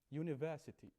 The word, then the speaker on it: university: to be you know you write it a vowel but you pronounce it a consonant in here University you don't say I